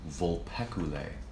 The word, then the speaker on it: Vulpecula: you see the constellation vulpecula vul PE see you la e Briella sure it's